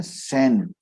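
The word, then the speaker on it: Schein: तो ये साहब एडगर शेन ने, इसको स्पेलिंग को SCHEN शेन बोलते, ठीक है।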